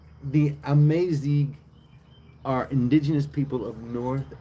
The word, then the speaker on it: Amazigh: Amazig. No N, right? No N. Amazig.